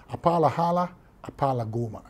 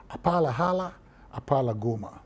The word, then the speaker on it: Apalahala Apalagoma: I mean, I'll show you how to pronounce it. Apalahala Apalagoma. Apalahala Apalagoma.